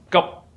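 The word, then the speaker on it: 急: But when it's pronounced in Cantonese or Middle Chinese, it's pronounced as gup. In order to pronounce it correctly, you must close your mouth.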